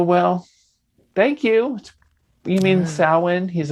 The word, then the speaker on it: Samhain: was like oh well thank you you mean samhain he's like oh sorry we can't get